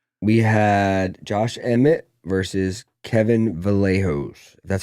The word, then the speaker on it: Kevin Vallejos: We had Josh Emmett versus Kevin Vallejos.